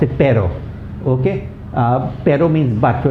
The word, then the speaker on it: pero: Okay, many students pronounce pero as perro. Okay, so then it becomes dog instead of butt. Pero means butt and perro means dog.